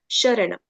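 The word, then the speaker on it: शरणम्: So here S will be pronounced as sh, sharanam.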